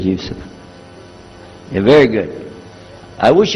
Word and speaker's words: Yusuf: youssef do you say yusuf and he said yusuf you're very good i wish you teach my wife she keeps mispronouncing it she calls me useless now how